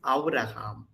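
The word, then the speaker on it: אברהם: But here, Abraham, so it is simply Av. It's not Ava because that is silent when it is followed by a short vowel sound. So it is Avraham.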